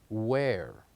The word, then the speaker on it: where: the word where so the silent letter of the word where as letter h so here we go and we Circle letter h letter H we write it yes but we don't say it we don't say it we say where now let's move on